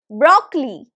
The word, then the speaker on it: broccoli: It has 3 syllables. If you think that it has 2 syllables, no, 3 syllables. Broccoli. Broccoli. So either you can say broccoli or broccoli. Either way, you want to separate the syllables, not the pronunciation. I'm telling you how to separate the syllables, right? So broccoli, broccoli, broccoli, broccoli. It's not collie. There is no O.